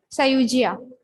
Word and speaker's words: Sayuja: Okay, then your friend, it's Sayuja, right? What is the correct pronunciation, my dear? Yes, Sayujia.